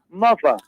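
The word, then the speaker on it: muva: Night and what what how do you pronounce m-u-v-a mother mother okay and mother is your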